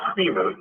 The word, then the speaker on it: Creamer: The name is pronounced Creamer, like coffee creamer.